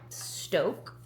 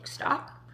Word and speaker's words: SToK: I have been obsessed with this Stoke, that's how you pronounce it, stock, unsweet black cold brew